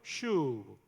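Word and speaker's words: שוב: 소생시키시고 해당되는 히브리어가 슈라는 단어예요 한번 따라해 볼까요 슈브 신신 예 렇게 생긴 단어예요 슈브 한 번만 더요 슈브여 여러분 여러분의 발음이 거의 신학대학원 수준이라는 걸 아세요 너무 잘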